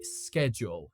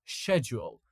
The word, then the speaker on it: schedule: We pronounce it like sku. Okay, schedule. Schedule. But then you have the word um you know the same word but in British English they don't pronounce it like that. They pronounce like schedule. Schedule. Listen to me guys. Schedule. Schedule. Now again it sounds funny I know but it it is actually pretty common in the UK.